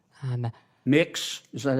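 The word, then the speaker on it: Mx.: It's pronounced Mix. Um Mix.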